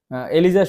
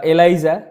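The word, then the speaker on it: ELISA: এলিজা সম্পূর্ণ নাম বা এলাইজা। যেটাই উচ্চারণ করো।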